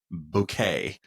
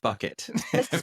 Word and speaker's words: Bouquet: That lady, Hyacinth Bouquet, and everybody called her Mrs. Bucket because they mispronounced her last name.